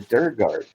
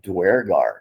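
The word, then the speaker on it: duergar: uh sir guard ring she called it the dirt guard but it's actually dwargar that's how that's actually pronounced that dwarf actually is a Norse or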